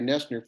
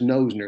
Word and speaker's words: Noesner: yes you will because everybody says nosner that's what it looks like but it's nesters yes